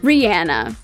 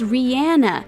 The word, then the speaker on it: Rihanna: to clarify that she is to be addressed as rihanna not rihanna it is rihanna a three-syllable word seemed simple enough back in